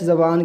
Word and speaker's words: yo: जो को यो भी पढ़ा जाता है, तो ये इलाकाई और मुल्क की यानी कि ज़बान में फ़र्क होता है। कहीं यो पढ़ते हैं तो कहीं जो पढ़ते हैं और दोनों तरह से सही है।